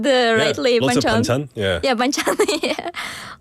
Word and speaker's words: banchan: additional foods like panchchon, right? Yeah. If I pronounced the rightly, banchan.